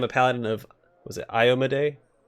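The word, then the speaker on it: Iomedae: paladin of was it I AMA day that's how you pronounce it I looked it up I owe Maddie and ice might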